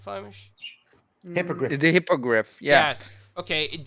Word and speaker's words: hippogriff: the broom and you can fly on the hippoglyph. Did I say it right, Flemish? Hippogriff.